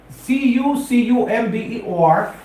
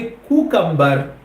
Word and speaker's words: cucumber: देखो spelling CUCUMBER, pronunciation में आप क्या करो, क्यू लगा दो ना कि कुकम्बर। आप कहेंगे as cool as cucumber।